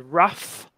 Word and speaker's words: rough: Okay, so this GH sound at the end here, like in the word rough or tough, makes a F sound, makes an F sound.